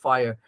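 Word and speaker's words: FHIR: There's fire, actually, it's pronounced fire.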